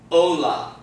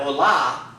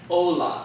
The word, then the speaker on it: hola: rules in mind okay we know that the first word there ends in the name therefore the accent is going to fall on the second-to-last syllable which would be the what the oh okay so that words gonna be pronounced Ola not Allah but hola so let's let's say